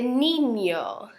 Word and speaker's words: niño: Ñ de niño. See, it's kind of like an N and a Y put together as far as pronunciation goes. Niño, ña, like that sound.